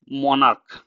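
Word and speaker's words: monarch: এখানে কিন্তু ক এর মত উচ্চারণ।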